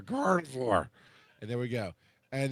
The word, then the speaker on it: Gardevoir: Gardevoir. Yeah. Gardevoir. It's like God of War, but Gardevoir. Like you got marbles in your mouth, half drunk, say God of War. Gardevoir.